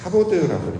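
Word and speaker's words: כבוד: 그래서 히브리어로 영광이라는 단어가 이제 카보드라고 발음을 하는데 그걸 우리말로 해석하면 무겁다라는 해석이 돼요.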